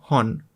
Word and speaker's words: hon: La palabra hon, que significa libro. Y pues, si tuviéramos que representarlo en español, así lo pronunciaríamos como hon. Hon. Recuerda, ¿no? Hon. Hon. Una H tranquila.